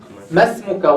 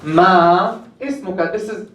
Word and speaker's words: ما اسمك: So why we don't say ma ismuka? I watched some videos on YouTube. They're teaching Arabic, so they say ma ismuka. There's nothing in Arabic called ma ismuka.